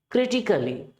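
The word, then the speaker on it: critically: क्रिटिकली, यानी कि सी और एल के बीच में फिर से भैया जी हो गए साइलेंट, यानी कि क्रिटिकली ए का टोन नहीं आएगा।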